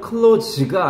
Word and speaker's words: close: 발음은 close가 아니야. close는 동사야. 닫다. close the door. 얘는 close. 나의 가장 친한 친구는 my closest friend가 아니라 my closest friend라고 S 발음이야. 형용사로.